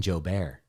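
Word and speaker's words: Joubert: cool stuff uh jo bear the t is silent um yeah he's doing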